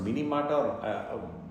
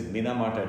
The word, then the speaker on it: Minamata: uh sometimes spelled m-i-n-i so it can be pronounced mini mata correctly actually it is minamata disease this is in japan a village actually